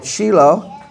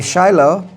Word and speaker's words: Shiloh: the promised land they set up encampment at Shilo or you might say Shiloh.